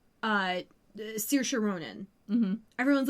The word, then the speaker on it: Saoirse: get used to it it's Saoirse yeah just do it yeah come on like learned that this spelling is pronounced this way and it's a very traditional